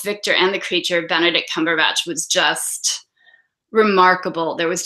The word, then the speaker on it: Cumberbatch: I hear we Americans don't know how to pronounce. I'm sorry? Cumberbatch.